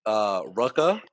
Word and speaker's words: Rucka: novel was written by greg rucka i believe is how you pronounce the last name vodka and Leandro Fernandez so